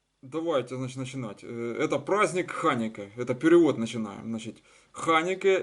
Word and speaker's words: חנוכּה: Это ков, ханике, ударение на а.